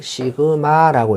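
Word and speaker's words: σ: 야는 읽기를 시그마라고 읽습니다.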